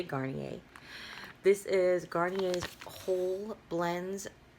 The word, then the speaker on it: Garnier: a second so this is how you say Garnier this is gardenias whole blends oat delicacy it